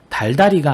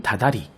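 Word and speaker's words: 다달이: 여기 보는 것처럼 달다리가 아닌 다다리, 활살이 아닌 화살, 바늘질이 아닌 바느질. 모두 발음의 편의성과 명료성을 위해 이러한 음운 변동이 일어났다고 보면 되겠죠.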